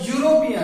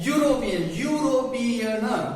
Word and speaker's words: European: A European. Actually, the spelling is e. We cannot say European. We say that European. European. That is begins with the y or w sound.